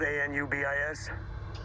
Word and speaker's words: Anubis: Anubis, spelled a n u b i s. Uh-huh. It's pronounced Anubis.